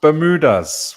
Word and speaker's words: Bermuda: What about Bermudas? Why have you got an S on the end? Yes. This is just my personal taste. The proper pronunciation would be Bermuda, but to me, the Bermudas are islands, so I chose plural.